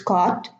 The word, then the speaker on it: caught: So we should remember, these should be memorized, that in caught and taught, although the pronunciation is similar to bought, brought, fought, sought, it's caught, taught, but caught and taught are spelled with an AU, and bought, brought, fought, sought, thought, they are spelled with an OU.